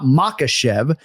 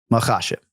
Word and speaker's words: Makhachev: He emphasizes the second syllable, but for the record, let's hear from the UFC lightweight champion. Islam Makhachev. Islam Makhachev. Makhachev. So we're emphasizing that second syllable.